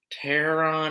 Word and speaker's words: Taron: I was a little interested because I am a big fan of Taron Egerton.